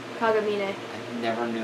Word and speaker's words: Kagamine: Kagamine.